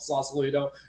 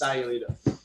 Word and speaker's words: Sayulita: Sayulita, for everybody who's watching and doesn't know where that is, there's no such place called Sausalito. It's Sayulita.